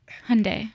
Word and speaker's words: Hyundai: like I wasn't like Hyundai rhymes with Sunday they also teach you